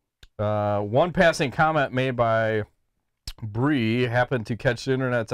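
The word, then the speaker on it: Brye: pro WMMA fighter named, how would you pronounce B-R-Y-E? Bree. Bree? Okay. I was going to go with Bry, but that would be kind of weird. So I like Bree.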